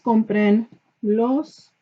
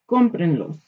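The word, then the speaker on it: cómprenlos: Comprenlos. What happens when you add an extra syllable to stuff? You've got to maintain the original stressed vowel.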